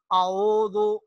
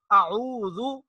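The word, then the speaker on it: أعوذ: میں پڑھنا ہے۔ اعوذ، ذال جب ہم پڑھیں گے تو ہماری زبان کا کنارہ سامنے والے دانتوں کے ساتھ لگنا چاہیے۔ اعوذ باللہ، باللہ، یہاں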